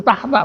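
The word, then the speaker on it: تحت: Tapi kalau tahta al-arsi itu tahta bacanya, tahta. Tapi pada saat dia ada huruf jar, min tahti arjulikum ya.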